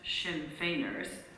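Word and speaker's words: Sinn Féiners: lady there mentioned that the shin fers pronounced shin fainer were to meet that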